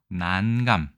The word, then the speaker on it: 난감: 두 번째는 감자입니다 그래서 보통 앞에 장음으로 난감 이렇게 읽으라고 국어사전에 되어 있습니다 난감 많이들 있겠지만 원래 발음은 난이 장음이다 죄송합니다 여기서 난감 난감하다